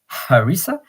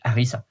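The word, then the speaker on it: harissa: English you might say harisa but in French you you say Arisa because you don't pronounce the h and honoring J Pasa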